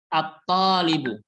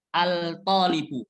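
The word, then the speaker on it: الطالب: huruf t holibu atholibu attholibu yaitu pelajar yaitu pelajar pelajar laki-laki bukan cara membacanya bukan altolibu bukan Alto tapi harus tidak terdengar saat dibaca Abdullah artinya punggung artinya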